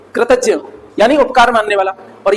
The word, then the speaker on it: कृतज्ञ: अच्छा, एक और चीज बताएं, इसको प्रोनाउंसिएट कैसे किया जाता है बताओ? ज और या टी, कृतज्ञ।